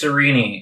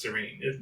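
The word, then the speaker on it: Sarene: serene because cerini sounds it only sounds goofy because it looks like it should be pronounced serene sirini is probably a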